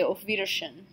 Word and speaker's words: auf Wiedersehen: way we typically say auf wiedersehen note that the W is pronounced like a V hey all W's in